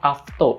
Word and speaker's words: AFTO: kita kedatangan produk dari avto ini bacanya avto Alfa FT lainnya avto ya yang pertama ini ada